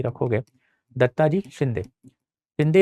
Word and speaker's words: शिंदे: शिंदे is basically Scindia, it इज a Marathi name. आप इसको शिंदे भी लिख सकते हो। शिंदे later on became Scindia because of the British pronunciation, but Dattaji Scindia ऐसे